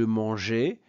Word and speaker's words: mangeais: Et regardez, on ajoute un E après le G pour éviter la prononciation manguer. Donc ici, je mangeais, tu mangeas, il, elle mangea, nous mangeâmes, vous mangeâtes, il, elle mangèrent.